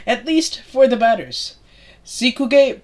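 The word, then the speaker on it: Seekkuge: Sikuge Prasanna, I don't know how to pronounce his name. Sikuj Prasanna, he's an example of this.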